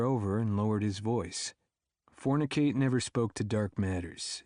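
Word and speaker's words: Fornic8: So I built a parallel persona, Fornicate. It's spelled Fornic, then the number 8.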